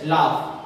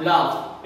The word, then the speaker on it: laugh: LAUGH, लाफ, इसका pronunciation होगा लाफ।